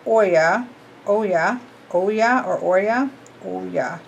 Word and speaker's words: Oya: In Africa, Oya, pronounced Oya, Oya, Oya or Oya, Oya.